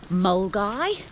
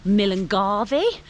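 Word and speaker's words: Milngavie: girl called Vicky, and she explained to me that it said Mulgai, but if you look at the spelling, it looks like Millengarvey.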